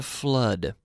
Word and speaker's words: flood: is the verb to flood flood flood FL o OD flood not flood but flood remember the other day we were talking about the double-o I said I'm in